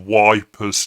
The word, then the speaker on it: Ypres: If you go to Rye, you have Wipers Tower, which is actually Ypres, but the locals deliberately mispronounce it.